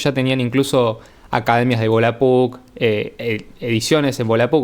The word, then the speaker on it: Volapük: Pero no es sino hasta el Volapük, o Volapük, como se pronuncia en ese idioma, que tenemos el primer